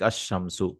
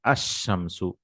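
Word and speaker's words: الشمس: You don't pronounce the lam, like ash-shamsu, the example itself. So we say ash-shamsu.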